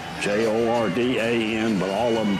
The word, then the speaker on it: Jordan: Charleston told me that it was a Welsh pronunciation that the Welsh did not want to be confused with the Irish so they took the